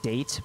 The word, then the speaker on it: Date: During investigations, the main character, I believe it's pronounced Date, because I know it looks like the word date, but I'm pretty sure it's pronounced Date, inspects scenes and collects testimony, progress by examining objects and talking to people.